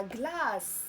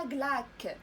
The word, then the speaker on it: glace: ما قلناش كينما وما قلناش لا غلاك، إنما لا غلاس و لو سينما.